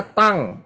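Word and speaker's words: tongue: nih Tong gimana Tong ya kan tulisannya Tong gitu ya bacanya tang ya jadi saudara jangan ngomong ting tung tang atau apa Tong begitu tidak bacanya tang Ya Tang ya lidah tang ya Jadi kalau bahasa lidah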